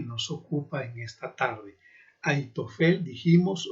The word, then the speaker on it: Ahitofel: Y si mencionáramos más su nombre en pronunciación hebrea, diríamos Ahitofel, poniendo la H como J. Ahitofel.